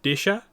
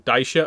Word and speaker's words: Disa: the audio book uh the pronunciation is disa rather than I've been saying Daisha up to now um but it's a